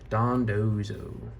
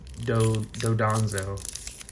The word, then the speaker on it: Dondozo: Sandile and Dondozo. Took me a while to pronounce Dondozo's name properly because I always wanted to Dodonzo, whatever.